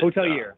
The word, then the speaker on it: hotelier: trying to discuss what how you pronounce it a hotelier or how is it hotel year yeah okay see mike you were right it is french so um so if